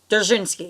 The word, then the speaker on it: Dzerzhinsky: Dzerzhinsky, yeah.